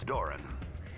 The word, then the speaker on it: Doran: Name's Doran. What can I do for you? Rhymes with Moron.